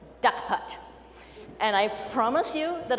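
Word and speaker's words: DUKPT: about derived unique Keeper transaction officially pronounced da cut and I promise you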